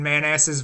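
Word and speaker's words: Manassas: has something something else I think they pronounce it Manasses but I'm like no that sign says man asses like it spelled man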